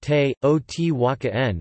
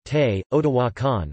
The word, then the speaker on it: Teotihuacan: The name is pronounced te, o-t-waka-n in Nahuatl, with the accent on the syllable wa.